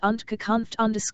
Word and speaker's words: Unterkunft: The German for shelter is Unterkunft.